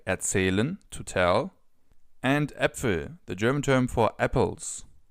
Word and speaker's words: Äpfel: When it comes to the pronunciation of this letter, just think of the English term bat. And now use the same pronunciation as in the Ä from bat and use it for Äpfel, for example.